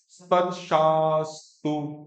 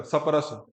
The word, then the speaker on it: स्पर्श: अगला देखो, ये बोलिए, मात्रा, स्पर्शास्तु, स्पर्श, बोलो, हरियाणा का सपरस, वो नहीं बोलना है, सपरस भी, सभी